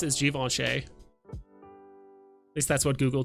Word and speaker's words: Givenchy: so yeah so this uh apparently how you pronounce is Givenchy at least that's what Google told me when